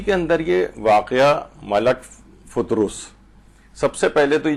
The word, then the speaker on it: فطرس: فے کے اوپر بھی پیش ہے اور رے کے اوپر بھی پیش ہے، یعنی فطرس اس کو صحیح طور پر پڑھا جائے.